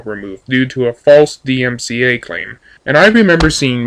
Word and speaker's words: DMCA: I said Christians file false DMCA claims, which I mispronounced DCMA in my video, and said atheists tend to do the same thing. As many people have informed me, no atheists have filed false DMCA claims against Christians.